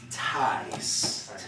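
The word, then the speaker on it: ταῖς: do you pronounce that tight ties ties kind of like high right but we gotta tell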